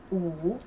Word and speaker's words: 午: Okay, so 午 this one, so the consonant is W. Actually, we don't really pronounce this, so it's the same pronunciation of just the U, the vowel, just U.